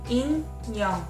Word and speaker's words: In Young: so like my name my first name is two syllables in young my first syllable in the circle must starts with it that's why you're gonna hear the vowel sound in in right in second syllable young you're gonna hear mg that's the last consonant although I have to